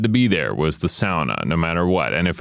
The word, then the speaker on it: sauna: fact that how I would say it was SAA I've never heard anyone say it like that